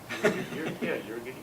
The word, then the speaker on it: Euergetes: Could you, how do you pronounce that, David? Euergetes? Sure. Euergetes.